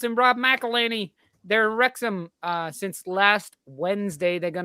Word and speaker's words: Wrexham: Master, It's pronounced welcome back. Wrexham? Wrexham, yeah.